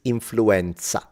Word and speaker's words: influenza: Yeah, we say influenza, though. We don't say influenza like in English. So if you want to say it the Italian way, it's influenza.